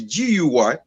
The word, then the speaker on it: Guy: And then after 5 years, after I get my citizenship, I change it to GUY, so that they can pronounce it guy, just like any guy.